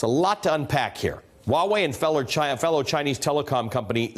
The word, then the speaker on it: Huawei: Now, Huawei, it's spelled H-U-A-W-E-I, but it's pronounced Huawei.